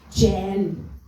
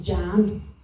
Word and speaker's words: Jen: be bit distracting um my name is Jen J en right sorry that was a we bit aggressive to start with but other thing is is that a lot of people think I'm saying my name's Jan j a n and it's not it's j j e n and if you don't